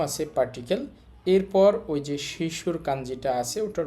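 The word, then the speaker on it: 女子: দেখেন চীনা উচ্চারণ হবে শি। এখানে লেখা আছে যোশি।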